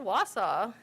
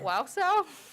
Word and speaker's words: Wausau: first night we landed i couldn't even pronounce wausau we used to call it wow cell because we didn't know